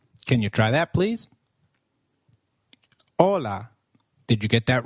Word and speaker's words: hola: hi hi is called hola in Spanish can you try that please hola did you get that right hola remember H is always silent in Spanish we do not pronounce it let me give you